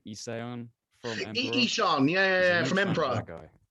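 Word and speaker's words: Ihsahn: Ishan, yeah, from Emperor.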